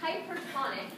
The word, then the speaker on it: hypertonic: If the cell is in hypertonic, emphasis second syllable, I did not read that.